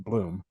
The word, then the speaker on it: Blum: We lost Olympic fencer Robert Bloom, or maybe Blum. It's my wife's maiden name, so I'm going to go with the way she pronounces it in Bloom.